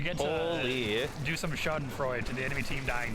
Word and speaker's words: Schadenfreude: to do some schadenfreude to the enemy team dying to them. Exactly. I think I pronounced that right. Schadenfreude.